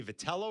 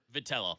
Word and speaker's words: Vitello: Is it Tony Vetello or is it is it Vitello? Vitello.